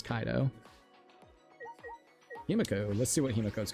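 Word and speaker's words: Kaito: So like I can't blame you if you do like Ko instead of uh Kaido. I I think it's Kaido though. I'm pretty sure it's Kaido, right? I've heard people say Kaido. So, it's Kaido.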